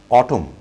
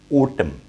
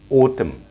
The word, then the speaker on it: autumn: আমরা এই ওয়ার্ডটির pronunciation করে থাকি autumn, autumn. This is absolutely wrong pronunciation. তাহলে right pronunciationটি কি হবে? The right pronunciation of this word is autumn, autumn, autumn, autumn.